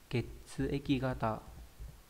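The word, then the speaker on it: 血液型: Ketsueki gata. Ketsueki gata này. Đấy, kata, nhưng mà khi mà ghép vào thì nó biến thành gata.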